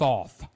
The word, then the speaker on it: Thoth: It's actually spelled Thoth, but I've always heard the correct pronunciation of that is Tote.